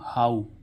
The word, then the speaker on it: how: ऐसे ही इसमें देखें HOW हाउ, HOW हाउ, तो इसका उच्चारण क्या निकल रहा है ऊ, है ना, हाउ।